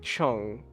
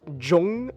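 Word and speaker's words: Chung: or the at least at least the Korean name you could pronounce it as Jong Isaac or Chong isak I'm going to go with Jong that sounds more that sounds more Korean so Jong ISAC so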